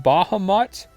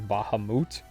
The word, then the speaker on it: Bahamut: card after uh bahamut i always called him bahamut but i'm pretty sure the official pronunciation is bahamut very strange sounding to me heavy armored sultry i